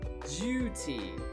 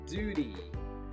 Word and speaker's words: duty: not the correct pronunciation in britain it needs to be a vowel u sound so you such as tuna tuna so not tuna tuna and juti juti not duty that's the american pronunciation